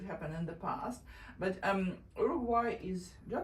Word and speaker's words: Uruguay: But Uruguay is, do I pronounce it correctly, by the way? Uruguay, right? The pronunciation is Uruguay. Uruguay.